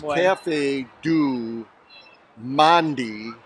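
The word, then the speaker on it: Café du Monde: because you'll notice that you are pronouncing it incorrectly it's Cafe do Mandy in its coffee and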